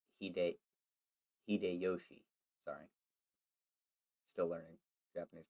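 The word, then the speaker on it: Hideyoshi: as uh takasago koku since 1592 when toyotomi hidayashi hide hide yoshi sorry still learning japanese pronunciation undertook a policy of overseas expansion and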